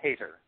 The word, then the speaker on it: Hayter: uh I I am I'm actually uh changing it to so that this interview will be more more comfortable um it used to be pronounced uh Hater Hater okay I wasn't sure